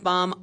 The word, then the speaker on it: Baum: where Alaba came from L frank bomb I said it wrong in my last video we all make mistakes